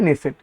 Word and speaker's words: Knesset: এখানে নেসেট বানানটা, পার্লামেন্টের নেসেট বানানটা একটু লক্ষ্য করবে, KNESSET, কিন্তু উচ্চারণ হয় নেসেট, ঠিক আছে।